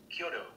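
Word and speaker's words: Chiodo: Did I pronounce their name right? Kyoto, yeah. C-H-I-O-D-O. Kyoto.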